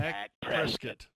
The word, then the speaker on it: Dak Prescott: Dak Prescott. That's the pronunciation.